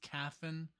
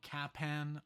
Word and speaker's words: Kaphan: look up the name it is spelled k a p h an so I thought it was was caffin or capan uh but I looked it up so it's caffin so I'm very happy